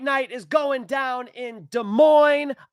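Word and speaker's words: Des Moines: UFC Fight Night is going down in De Moine, Iowa tomorrow. And yes, I said it right because I'm from the Midwest.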